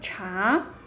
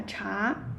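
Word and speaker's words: 茶: Okay, that is a character tea, cha. Interesting? So, yeah, cha, cha. So, this character, yeah, is a cha, ah, cha. Okay, I see someone yeah, comment that I like chai.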